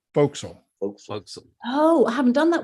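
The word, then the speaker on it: forecastle: that down I'm sorry it's spelled for Castle but it's pronounced Folk Soul oh I haven't done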